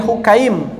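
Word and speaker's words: Hukaym: bilbo milha dan dari hukym dengan mendoakan hak bukan hakim bacanya tapi oke ini eh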